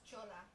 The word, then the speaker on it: chola: our Spanish announce team how do you say it it's Chola Chola okay yeah it's the same way you're saying it right oh I want